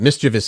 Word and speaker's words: mischievous: not alone a lot of people do that mischievous is the way it's pronounced but they've they've accepted that other version